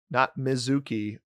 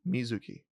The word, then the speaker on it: Mizuki: Not Mizuki or Mizuki, but Mizuki. I don't know how close I am, but anyway, you're supposed to pronounce the I like that.